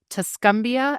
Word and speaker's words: Tuscumbia: Ryan is the parts manager at Hyundai of the Shoals in, and forgive me, I'm going to mispronounce this, Tuscumbia, Alabama.